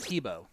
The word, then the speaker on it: Thibault: Also, it's pronounced Tebow. Well, I know, and I always mess up too, and I just remembered it because of it. Oh, okay. I just remembered because she knows it. She knows I always butcher it. So, yeah, it's kind of a weird pronunciation, Tebow. but yeah, exactly. It looks like it's Thibault, so she just makes up the pronunciation, that's for sure. But they decided on Tebow. Ooh, did I just give the same bracket?